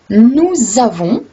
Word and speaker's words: nous avons: Quand on dit « nous avons », donc au lieu de lire un S, on lit un S, mais on prononce un Z, parce que le premier